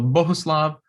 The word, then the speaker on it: Bohuslav: mr martinu note that little circle on the u is not an umlaut this is a czech name and it just means to hold that u a little longer every word in check